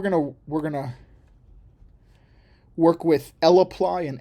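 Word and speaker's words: lapply: we're gonna work with L apply and S apply a lot more and so here is the L apply function and you want to make sure to say l apply Or List apply I had a friend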